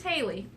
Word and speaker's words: Halley: wrong so all right oh it is Haley named after Halley's Comet this little chocolate sandwich